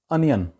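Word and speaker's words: onion: व है fat fourth next word है जी अनियन प्याज अब इसको वहां पर धुंध ज्यादातर बोला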